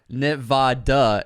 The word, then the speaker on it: Nevada: and raised Nevada native I'm appalled by your pronunciation of Nevada it's Nevada it has forced me to